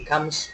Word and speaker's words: comes: đây có chữ Comes chữ s chữ s ở đây chúng ta đ Z Ok nếu không đ âm Z thì chúng ta phát âm S he comes from he Comes Comes Comes nework ok Com